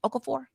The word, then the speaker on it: Okafor: NBA center Jalil Okafor, is that how you say it? Okafor.